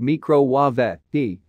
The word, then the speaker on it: microwave: Her account liked a tweet from a fan which explained it to other viewers, which read, "It's pronounced as an Italian or Spanish person would meecro-wa-vay, the right way."